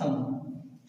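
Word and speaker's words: thumb: लेकिन लिखा क्या है, मैंने कहा ना बी का उच्चारण नहीं करेंगे तो क्या पढ़ेंगे, सिर्फ थंब।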